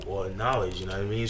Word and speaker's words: Knxwledge: Like they'll like for example they'll put like there's a producer named Knowledge, but it's KNXWLEDGE. You know what I'm saying? But there's no O or knowledge.